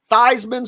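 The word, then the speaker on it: Theismann: pronun your name to thyman so it rhymes with Heisman there was a wonderful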